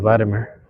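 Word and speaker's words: Wladimir: Natalia and Vladimir. You know, I'll be forgetting every time, when they see the W is pronounced like a V or something.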